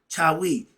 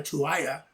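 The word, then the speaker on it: Tawi: And they had Sema, S-E-M-A, Sema, that means to join, or we spelled it S-M-A-I. Chawi, T-A-W-I. And I heard the white guy call it Semaya, Tuaya.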